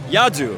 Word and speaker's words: Yadu: you can call me Yadu. Yadu. Rhymes with Yahoo.